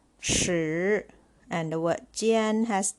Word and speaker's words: 时: The word 时 has HS as a consonant. It sounds 斯, shi. And the vowel here is I that comes after the consonant SH, it should be sounded as sound, not E sound.